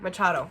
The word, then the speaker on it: Machado: I also never fucking look up how to pronounce it. That's a really asshole move, actually. Hold on. Machado. Okay, Machado.